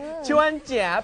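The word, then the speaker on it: 春节: มี อะไร จะ ค คำ นี้ อ่าน ว่า ชวน เจี๋ ชวน เจี๋ แปล ว่า ตรุษ จีน ครับ ผม ก็ อย่าง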